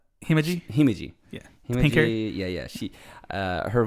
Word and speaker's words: Himeji: How do you say Himoji? Himeji.